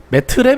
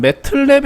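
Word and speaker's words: MATLAB: 어 이 맺자 맞고 이 매틀랩 이라는 것은 매트랩 이라고 적혀있지만 매틀랩 이라고 발음을 해요 그 이유가 뭐냐 하면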